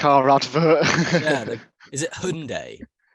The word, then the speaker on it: Hyundai: Yeah, is it Hyundai? Hyundai. Hyundai. Exactly. not It's that. Hyundai. That's Come on. Hyundai. It's Hyundai, was- mate.